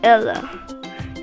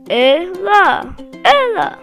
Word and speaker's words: Ela: Number one, Ellie versus Ella. Ellie. It's not L E. It's short. Lie. Ella. Open your mouth. Ella.